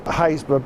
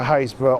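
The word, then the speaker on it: Happisburgh: So, this is Hayesborough Beach. Don't look for Hayesborough on a map cuz it says Hapersburg.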